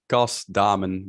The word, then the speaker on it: Cas Daamen: screen yeah sure so in dutch it's cost diamond but in every country everyone says it differently so that's fine